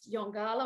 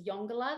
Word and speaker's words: Yongala: about a biodiversity hotspot if you haven't dived yongala or the correct way to pronounce that is yongola that's the indigenous term please please do it